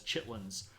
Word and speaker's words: chitterlings: is pig intestines uh it's actually spelled chitterlings uh but we in the South pronounce it as chitlins um so it's uh